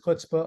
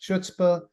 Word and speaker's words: chutzpah: And the answer, although the word itself, and I pronounce it chutzpah, I've heard it pronounced chutzpah, chutzpah, as if the C isn't there. It just starts with the H, kind of like a stop sign in Washington, D.C.